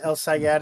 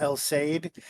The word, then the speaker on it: El Sayed: I spent so much time looking at the last name and being sure it's El Sayed and not El Said that I didn't even